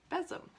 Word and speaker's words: besom: By the way, the traditional name for a broom made this way is besom, pronounced besom.